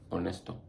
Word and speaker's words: honesto: Letter H is silent. I can't even freaking think of any words with the letter H right now, but just know when you see that letter H, it's silent. Like honesto.